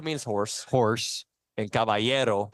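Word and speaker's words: caballero: and not no kabo means horse horse and cavayero cavayo that's correct good great pronunciation there I can if if I hear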